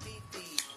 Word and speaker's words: Fifi: My name is Fifi. Pronounced with the beefy.